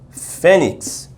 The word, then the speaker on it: fênix: Exemplo, tem aqui a palavra fênix. Você sabe que não é fênix. A sílaba tônica qual é? A penúltima.